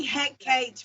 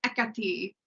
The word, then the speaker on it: Hekate: one Practical Magic Mighty heate make it right and I was like that's not her name I know twitching the yeah if you want the the real Greek pronunciation it is ETI we we generally in